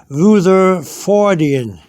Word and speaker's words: Rutherfordium: ways are correct okay Luther forian capital r u t h e r f o r d i u m okay if see here here how you pronounce it Ruther forian okay all right now